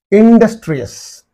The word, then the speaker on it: industrious: cannot say anxious okay industrious in these two syllables you find the suffix and therefore this is the syllable preceding the suffix industrious right and injurious laborious